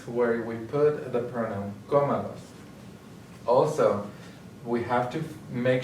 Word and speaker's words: cómalos: And we want to keep that as the stressed syllable, so we have to do an accent.